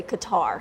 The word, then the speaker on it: Qatar: I was in Doha the locals would say cutter but it is an American English pronunciation to say Qatar so technically either pronounced